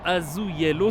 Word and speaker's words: azulejos: Donc je disais, et juste derrière moi en fait on peut voir des bâtiments avec des façades qu'on appelle ça des azulejos, si je prononce bien, c'est toujours pas ça, c'est quoi la prononciation?